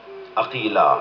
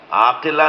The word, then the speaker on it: عقیلہ: بیت کا کمال ہے۔ عقیلہ، عقیل، عاقلہ نہیں، عقیلہ، جس لہجے میں قمر بنی ہاشم بولا جاتا ہے نا، اسی لہجے میں